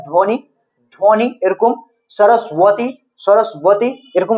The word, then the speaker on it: সরস্বতী: হয়ে যাচ্ছে বা এরকম সরস্বতী সরস্বতীতে ব একটা আছে বটা উচ্চারণ করছি না আমরা ঠিক আছে তো বটা সাইলেন্ট থেকে যাচ্ছে তো ওটাকে আমরা কি